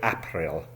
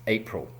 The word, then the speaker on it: April: OK, the first word, it's a month, APRIL, now people often say Aaapril and that is wrong ! The pronunciation correctly is APRIL.